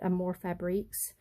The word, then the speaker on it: Amour Fabriques: out Selena over at, I pronounce it Amour Fabriques. It's like A-M-O-U-R, and then Fabriques, F-A-B-R-I-Q-U-E-S, I believe. I'll try to remember to post the link below, but I'm very forgetful on stuff.